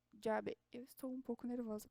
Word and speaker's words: llave: Bem, as palavras aqui chamada fica llamada, chuva fica lluvia, chave fica llave. Opa, é llave.